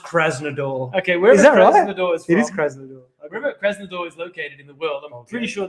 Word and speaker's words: Krasnodar: uh wherever they're from it's pronounced krasnodar okay where is pretty